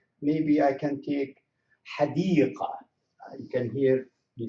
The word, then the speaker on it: حديقة: You can hear حديقة. I don't say this is the spoken language. We don't put anything حديقة جميلة. So although it is ta مربوطة, but we don't pronounce it as ta when we write it.